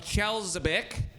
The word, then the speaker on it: Chelyabinsk: No, Chelyabinsky. How do you think that's pronounced? Chelyabinsk. Yeah, that's right. Yeah, but you're just there's no E at the end.